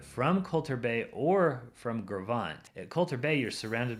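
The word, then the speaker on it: Gros Ventre: Gravant looks like Gross Venture, but it's pronounced Gravant.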